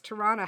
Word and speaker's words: Toronto: So unless we're calling ourselves Torontonians, then you do get that second T in there. But otherwise, it's Toronto.